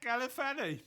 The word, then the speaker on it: Galifianakis: Okay, you're going to have to help me with the pronunciation of his surname. Zach Galifianakis. Zach Galifianakis.